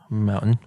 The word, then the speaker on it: mountain: People don't pronounce the T. Mountain.